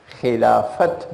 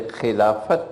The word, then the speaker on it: Khilafat: a movement called the Khilafat boom because this is not the Arabic word Khilafah this is the older word Filofax it's good pronounce the T so they called it the Khilafat movement meaning when the